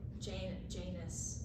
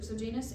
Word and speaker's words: Janus: the time it was ruled by Janus, is how it's pronounced online.